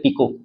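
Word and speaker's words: pico: Nano हो गया, ये उसको बोलते हैं पिको, साड़ी का पिको जो होता है, पिको याद रखिएगा उस तरह, पिको।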